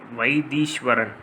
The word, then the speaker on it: Vaitheeswaran: When pronouncing in Tamil, it sounds like Vaidishwaran.